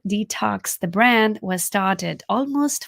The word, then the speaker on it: DTOCS: So that is why the brand name Detox has come into play. And if you're wondering what it's spelled as, it is DTOCS.